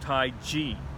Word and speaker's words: Taiji: Well, actually, according to Wade Giles, that is pronounced Taiji, but because it's C-H-I, same spelling is used for chi in Wade Giles.